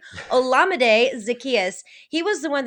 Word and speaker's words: Olamide: Now, Olamide, because I just figured out how to say his name, Olamide Zacchaeus.